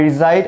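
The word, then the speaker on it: reside: পারি আই রিসাইড in actually এটা রিসাইড না এটা রিসাইড অর্থাৎ এখানে এস এর উচ্চারণটা আমাদেরকে জ এর মত করতে হবে জো আই রিসাইড ইন অথবা ইন ঢাকা অথবা আই রিজাইড এট মিরপুর আমি মিরপুরে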